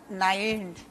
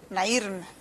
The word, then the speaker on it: Nairn: entrevistar al periodista Alan Nain. Mucho gusto. Lo pronuncié mal, ¿verdad? ¿Cómo se debe pronunciar? Así es, correcto. ¿Sí? Sí. Nairn. Spanish, Nairn. Sí. O Nairn. Ok, en inglés, Nairn.